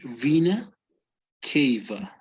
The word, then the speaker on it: vena cava: a different pronunciation and it takes into account the greek pronunciation its greek origins okay so it would be vena cava oh great it's like between the a and the v there's an e in between k okay so it would